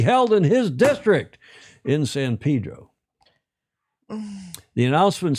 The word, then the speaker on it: San Pedro: of Los Angeles in San Pedro, as the Angelinos call it. All of us who speak Spanish would say San Pedro, but the locals say San Pedro. In fact, they just say Pedro.